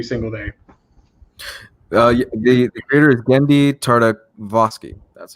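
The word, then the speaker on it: Genndy Tartakovsky: The creator is Gendy Tartakovsky.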